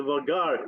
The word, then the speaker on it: vaghar: How do you pronounce what you just said? The vagar.